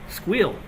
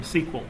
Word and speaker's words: SQL: when I told them SQL they're like no no squeal and I'm like why they said it's one syllable versus two so it's faster until you have to